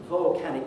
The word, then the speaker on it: volcanic: Volcanic must have the vowel o in the first syllable. We had a lot of talk about this in the spring when Europe was engulfed in a cloud of volcanic ash from Iceland. Volcanic. And it's a very interesting word because there's this unstressed syllable which is vol.